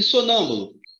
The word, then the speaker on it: sonâmbulo: E sonâmbulo? Sonâmbulo, ó, última, penúltima, antepenúltima. É a mais forte.